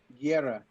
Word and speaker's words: Guerra: Guerra? Guerra. Guerra. Got to roll the R.